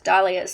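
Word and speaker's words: dahlia: is related to color a fascination with daas or dalas I believe they're actually supposed to be pronounced as dalas and so the way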